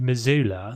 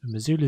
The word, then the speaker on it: Missoula: So welcome to Missoula. So this is the other secret project that I've been Missoula Zoo. It just reminded me to say Missoula Zoo and not Missoula.